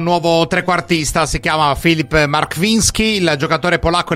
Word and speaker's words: Marchwiński: Andiamo a sentire come si dice il suo nome. Poi per i telecronisti è importante, ma non solo. Markwiński Filip. Markwiński Filip, yeah. Markwiński.